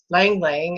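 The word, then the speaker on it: ylang-ylang: But Lang Lang, and it's spelled Y-L-A-N-G twice.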